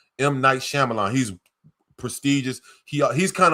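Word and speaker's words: M. Night Shyamalan: You have to see it bro like yo it's a it's it's by a director named Might Shyamalan. I can't say his name. M Knight Shyamalan.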